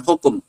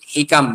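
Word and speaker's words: حكم: Bukan hukum, hikam bacanya.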